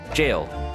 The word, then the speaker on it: gaol: I learned is that gaol is actually just the old lead the old spelling for jail and is pronounced as such still jail JJ oh so lucky